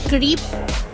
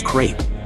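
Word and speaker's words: crêpe: So naghahanap ako ng creep kasi tama ba? Creep ang basa doon. The accurate pronunciation of this word is crape.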